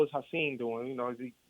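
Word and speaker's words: Ha'Sean: My real name is Hassim, but it's spelled Hassan.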